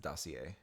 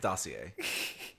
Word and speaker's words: dossier: people like yeah yeah yeah it's called It's pronounced dossier dossier it's like it's like spelled like d-o-s-i-e-r oh I know how it spells yeah it's pronounced dossier like I spent 20 minutes on that in